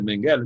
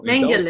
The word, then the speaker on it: Mengele: A pronúncia é Mengele mesmo em alemão? Bom, Mengele.